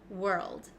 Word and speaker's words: world: go over this one we pronounce this world world okay let's go step by